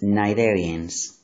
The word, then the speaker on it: Cnidarians: Remember the pronunciation, please. Cnidarians.